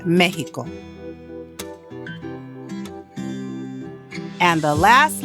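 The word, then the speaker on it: México: It has the H sound only for names of certain places or people as in Mexico.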